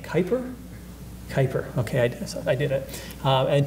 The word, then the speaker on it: Kuiper: I always mispronounce his last name. Kuiper.